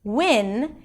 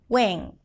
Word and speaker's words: when: So, instead of saying when, they may say something like, making the sound nasal and even putting a little bit of an NG sound at the end, wing.